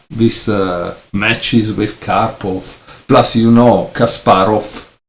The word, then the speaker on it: Kasparov: And so you say, okay, Kasparov is Russian, it's from Moscow because he lived there, right? He played these matches with Karpov. Plus, Kasparov finishing this V that is pronounced like a F in Russian, right?